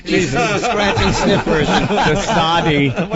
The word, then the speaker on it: de Sade: De Sade. You pronounced the E. Yeah. It's de Sade.